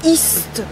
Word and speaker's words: ist: Quand je t'écoute prononcer, du coup naturellement je reproduis, mais tous les ist, par exemple le T, il est presque mangé avec la liaison, non?